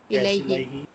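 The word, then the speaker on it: إليه: Do you pronounce it like this? Ilai. Ilaihi.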